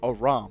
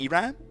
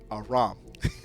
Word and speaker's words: Aram: Aram, he was like, it's Aram. I was like, Iran? Aram.